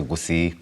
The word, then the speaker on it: Gusii: taking place to manage Gusii politics, that's the Kisii politics. You want to say right, you say Gusii politics. That's how you say it.